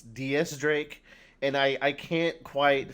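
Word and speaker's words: X Drake: recently found out that his name is not pronounced x-drake it's ds drake and i i can't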